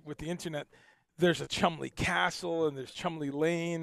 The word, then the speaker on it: Cholmondeley: The easiest way to think of it is two syllables, C-H-U-M. Yep. L-E-E, Cholmondeley.